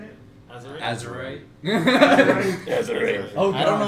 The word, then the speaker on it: Azurite: Azurite.